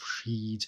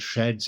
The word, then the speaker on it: sheds: As I have explained very recently, I tend to ease off on these old pronunciations because they don't sit so easily with us, and sheds is the same word, it's just spelled differently, and we get this a lot if we pronounce these sonnets in a at least partly contemporary English, then we do get these imperfect rhymes, such as here, where we have sheds to rhyme with deeds.